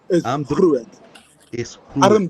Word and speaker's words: Armdruk is groot: Armdruk is groot.